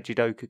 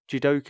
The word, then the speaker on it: jidoka: many machines in japanese judoka is a toyota created word pronounced exactly the same and written almost the same as the japanese word for automation but with the added